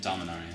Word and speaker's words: Dominaria: Dominaria.